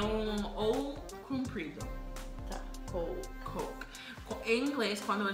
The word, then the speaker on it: Coke: É Coke. Coke. Coke.